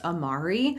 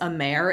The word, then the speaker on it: Amare: start by loving yourself I'll admit that it wasn't until I started researching for this video that I realized it was pronounced Amari I have 100 called this a mare in several other videos